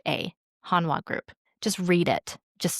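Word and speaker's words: Hanwha: Let's learn about Hanwa a little bit and then I'm going to make some remarks about some shows you might want to watch.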